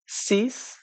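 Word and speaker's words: six: so five এটা হলো স্যাংক এবং সিক্স এটার প্রোনাউন্সিয়েশন হলো সিস সো সিক্স ইজ হলো সিস সেভেন এটার প্রোনাউনসিয়েশন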